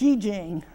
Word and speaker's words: Yi Jing: Okay, this 29 in the I Ching, which is an H, it's Yi Jing is the correct way to say it.